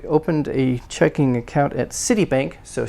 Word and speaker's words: Citibank: you talk like that citibank uh checking account by the way compound me stress on the first one 14 same thing